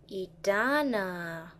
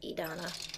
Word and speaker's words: Edanna: have we got here edana or edonna i believe it's pronounced edonna once again the lazy